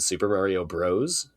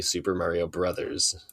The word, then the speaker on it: Super Mario Bros.: Kids in my life now pronounce it Super Mario Bros. And it really irritates me because it's obviously Super Mario Brothers. Like Bros is a shortened form of the word brothers.